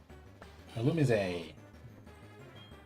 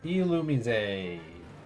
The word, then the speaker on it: Illumise: Illumise. Illumise. As confirmed by the Pokemon Company. How you pronounce that name?